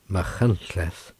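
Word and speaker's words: Machynlleth: george borrow chapter 79 machines pronounced mahantleth is one of the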